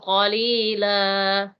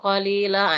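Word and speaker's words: قَلِيلًا: Oke, kemudian qalila. Nah, ini juga berikan haknya ini. Karena kamu tadi singgah di sini, perjelas lagi panjangnya ya. Bihi tamanan qalila.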